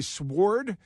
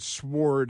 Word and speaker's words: sword: Hey, do you say sword? Well, most people just say sword, but you can pronounce it sward if you want.